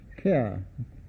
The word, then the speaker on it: Kerr: and author, Claude Buchanan Kerr, spelt with one R, and often for some reason pronounced Carl.